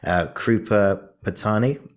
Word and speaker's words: Krupa Patani: I'm going to pronounce her name wrong. I'm so sorry. Krupa Patani.